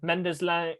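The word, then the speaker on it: Mendez-Laing: They've got Collins, and then they've got Mirahan, McGoldrick, and then Mendes Lang.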